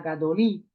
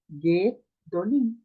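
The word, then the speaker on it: גדולים: Você vai pronunciar gadolim? Não, não vai pronunciar gadolim. Esse primeiro câmetz, ele será reduzido a um shivar. Perceba? Distante da tônica, será reduzida a um shivar. Vai ser o quê? Gedolim.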